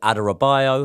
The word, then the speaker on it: Adarabioyo: One man that we didn't talk about in recent videos, and obviously he has signed for Chelsea, is Tosin Adarabioyo. Have I pronounced that right?